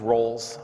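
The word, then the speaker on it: Rowles: my name is my last name is roles I have a name too gets mispronounced everyone smile because the way it's spelled its rowl es I have some crazy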